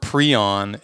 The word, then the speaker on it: prion: the prion hypothesis, and he pronounces it prion, and so I figured that's probably what the rest of us should do.